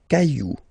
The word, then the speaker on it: cailloux: Okay, then un caillou, plural, des cailloux. Okay, remember, you don't pronounce it, the final X.